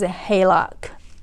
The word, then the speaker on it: HELOC: the differences between ref finance a home versus halock home equity line of cred Oh yay me